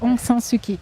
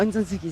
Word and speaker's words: Aung San Suu Kyi: Alors, précisément, c'est un peu compliqué à prononcer, c'est pas Aung San Suu Kyi ou Aung San Suu... C'est presque ça, Aung San Suu Kyi. Ah, Aung San Suu Kyi, c'est ça.